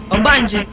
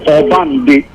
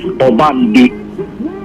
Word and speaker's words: Obande: Obanje. No, Obande. Obande. So by children playing and they started calling him Obanje, but normally the real pronunciation is Obande.